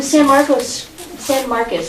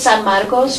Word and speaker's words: San Marcos: That was the San Marcos, I got to pronounce it properly. I'm a former Spanish teacher, so to me it's San Marcos, but I'll say San Marcos if you guys make me do it.